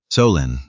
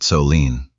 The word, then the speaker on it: Solène: Solène, not Solene, and she had stopped correcting them after the 3rd month because it wasn't worth the energy.